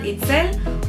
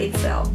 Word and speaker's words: Itzel: I have two names, and Itzel, or if you want it in a more English-speaking pronunciation, and Itzel.